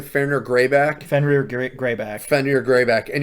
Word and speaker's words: Fenrir Greyback: Fenrir Greyback?